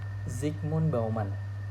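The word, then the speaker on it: Zygmunt Bauman: Nah, aku sempat baca, I don't know how to spell, how to pronounce, tapi namanya Zigmon Bauman.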